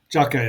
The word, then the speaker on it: JAKQ: Jaka is how they say it in Japanese.